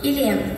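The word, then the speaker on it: Илем: Илен, ударение ставим на последний слог.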